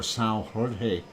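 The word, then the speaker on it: São Jorge: of sail George or Sal Jorge Jorge if you say it in a Portuguese and if I said it right anyway um and we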